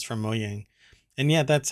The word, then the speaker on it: Mojang: i guess it's from moyang and yeah that's how it's pronounced apparently um a lot of people pronounce it mojang but it's not mojang it's mo yang i don't necessarily think